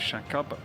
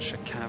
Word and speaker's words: Shaqab: Again by Al shaab shaab spelled with an A but Arabic pronunciation reasons it is shaab rather than shaab how we in England would naturally pronounce it great little